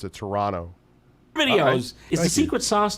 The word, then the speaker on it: Toronto: yes yes remember if you go to Toronto the local way to pronounce it is to drop the second T pronounced at Toronto videos is the secret